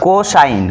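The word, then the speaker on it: cos: পুরাটা ব্যবহার করি না শুধু সি ও এস প্রথম তিন অক্ষর ব্যবহার করি তাহলে কস তারপর এখানে বসবে কোন এই কোন বলতে বুঝাচ্ছে কি আমি একটু পরে বলব এই কস কও এস এটার উচ্চারণ হল কস তারপরেটি এনজি এনটি টজেন্ট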